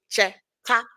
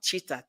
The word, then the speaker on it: Cheta: I say it's cheta, and not cheetah.